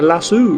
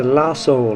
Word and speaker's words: lasso: call it la so I call it La soo right but moderner that's my mispronunciation so I grew up